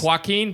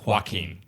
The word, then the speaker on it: Joaquin: Joaquin right Joaquin fear I always go Joaquin but it's just Joaquin it ends well and